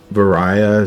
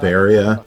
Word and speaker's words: Varia: I know some people call it Varia. Yeah. Because I think it stems from like the way the Japanese would pronounce barrier.